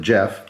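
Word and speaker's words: Geoff: And the person who I traded with, Jeff, spelled with a G, G-E-O-F-F, he had hooked me up with these as a total surprise.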